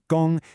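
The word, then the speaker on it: 攻: Her mission is captured by this character, gōng, you say it gōng, and it means to attack.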